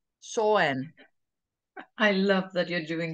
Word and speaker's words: Samhain: Oh, here it says pronounced Sawen. Sawen.